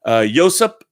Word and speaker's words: Josip: This comes from Josip Irakovich. I think you're Irakovich. You told me how to pronounce it. Josip Irakovich, like Joseph.